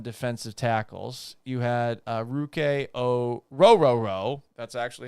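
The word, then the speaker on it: Ruke Orhorhoro: a run on defensive tackles you had uh ruk o rooo that's actually how his name is pronounced from Clemson going to the Falcons at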